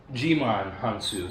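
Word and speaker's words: Djimon Hounsou: Oh, it's Jimon Hansu. That's what it is. Okay. Jimon Hansu, because the D is silent.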